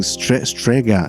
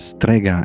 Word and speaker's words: Strega: So second day as we said and I don't even know why I'm pronouncing straga. It it's Strega. It's an Italian word.